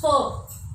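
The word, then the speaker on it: vier: pronounced as Volkswagen, because in German V is pronounced as F, and in German 4 is written this way, V-I-E-R.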